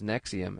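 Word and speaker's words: NXIVM: secretive uh cult which it's spelled NX IVM but it's pronounced as Nexium and even within Nexium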